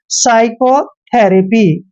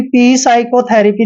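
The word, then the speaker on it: psychotherapy: अब यहां पर देखिए एस से पहले पी आया है तो पी का हमेशा साइलेंट रखेंगे यानी पी का उच्चारण हमने करना ही नहीं है इसको क्या पढ़ेंगे साइकोथेरेपी साइकोथेरेपी क्लियर कभी पी साइकोथेरेपी नहीं पढ़ते हैं पी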